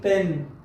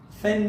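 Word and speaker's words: pen: سره پیپل پیپل پیپل ورپسې لغت کې پن فن نه ورګي پن پن اکثره شاګردان د فن تلفظ یا فی تلفظ پی غلط ده کوشش وکړئ پ تلفظ کړئ او ورپسې هیلپ هیلپ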